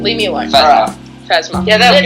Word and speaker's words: Phasma: calling her Phasmis and then now Phasmith. Don't. Okay. Like I Phasmis can't- as in Christmas. Hey, I can't pronounce her name. Leave me alone. Phasma.